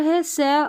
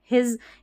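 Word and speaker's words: his: को प्रोनाउंस करते हैं हिज यहां पर हिज हिस नहीं बोल रहे हैं स नहीं हो रहा हिज ज उच्चारण एसक और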